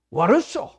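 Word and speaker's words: Warsaw: 어디로 가느냐 바르샤바 그러니까 듣는 거 바르샤바가 아니고 와르소 어 와르소 하더라고이도 못한 발음이 와르소 우리는 계속 바르샤바를 배웠으니까 로소 그러더라고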